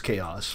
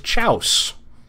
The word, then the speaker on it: chaos: how to pronounce chaos I was right it was chaos my friend was wrong he thought it was chouse I forget what the